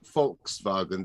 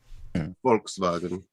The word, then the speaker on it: Volkswagen: gary's gonna have to volkswagens volkswagen on steroidems it's in german it's it's uh it's pronounced volkswagen they they do the w's as v's and the visas f's volkswagen yeah i don't remember